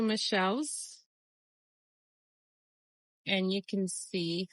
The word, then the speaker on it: Michele: I decided I might have another one in the large greenhouse, but the first Michelle, or Michele, I believe it's pronounced Michele.